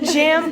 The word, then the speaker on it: Jjammk: And that is episode 3, the finale of the Jjammk Podcast, where the K is silent.